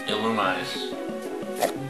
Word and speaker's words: Illumise: God, I still have no idea how to pronounce this. Illumise.